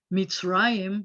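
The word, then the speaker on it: מצרים: ayam ending and remember anytime it has an i yeah sound in it the accent's always going to be ah and this word is meets raim which is an appropriate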